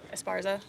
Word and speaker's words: Esparza: be 20 minutes uh it looks like he's esparza esparza okay apologies on adding an extra syllable sometimes my tongue moves